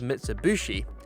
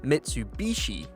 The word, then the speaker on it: Mitsubishi: a lot of us in the UK refer to this brand of car as Mitsubushi rather than Mitsubishi I don't know why